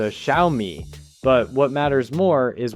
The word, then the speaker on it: Xiaomi: Some say Xyomi, some say Shyomi, some say Zomi. And honestly, most people just avoid saying it out loud altogether. Officially, it's closer to Xiaomi.